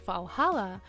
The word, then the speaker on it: VA-11 HALL-A: The name sounds silly and a bit hard to pronounce. Good thing it's actually called Valhalla. The funny numbers and letters are just a code.